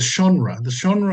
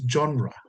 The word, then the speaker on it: genre: And number two is the genre of John. The When I first studied theology, I pronounced it genre. I think, yeah, but it's genre. It is a French word, the genre.